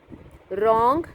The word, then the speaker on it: wrong: Wrong, W is silent.